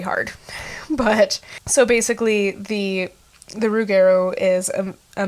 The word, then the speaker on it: rougarou: Anyway, the Rougueru is actually a Michif pronunciation of the French term for wolfman, loup-garou. So the Métis Nation, or